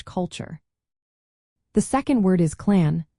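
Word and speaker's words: clann: The second word is clan pronounced approximately as clon.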